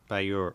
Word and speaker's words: beure: So, pa ba yura.